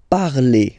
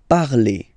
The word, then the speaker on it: parle: So even if you've got this ENT, don't hate me, but you won't pronounce these letters. Okay, you have to write them for the plural form, but you don't pronounce them. So you get il parle, elle parle.